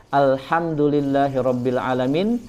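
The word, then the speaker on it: الحمد لله رب العالمين: pada bacaan tersebut ya ini salah satu contohnya alhamdulillahirobbilalamin harusnya dengan khas ya yang artinya segala puji bagi Allah Rob semesta alam kemudian jika ada orang yang membacanya dengan huruf H alhamdulillahirobbilalaminnya kemudian diganti dengan Hamzah maka artinya bisa jauh sekali ya segala kematian bagi Allah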